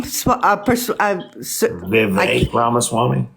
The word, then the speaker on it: Vivek Ramaswamy: Vivek Ramaswamy.